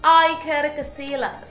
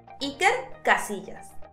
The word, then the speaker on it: Iker Casillas: And Casillas has a double L, which in Spanish sounds like a soft J. Iker Casillas.